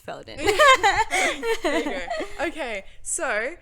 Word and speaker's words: Faeldan: Faeldan.